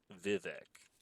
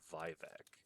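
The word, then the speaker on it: Vivec: He pronounces it Vivicc whereas I've always read it as Vivebec.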